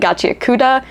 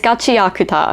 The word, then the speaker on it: Gachiakuta: I've been saying gacha. It's gotakuta. I've been putting the emphasis on the coup instead of the a.